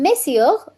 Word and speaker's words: Messieurs: or Sir, and Messieurs, Messieurs, pronunciation is somewhat same.